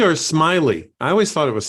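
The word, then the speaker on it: Smilie: Pruitt Taylor events played the uh is it simile or Smiley I always thought it was smiling I'm sorry you're right it is smiley which is kind of a creepy name for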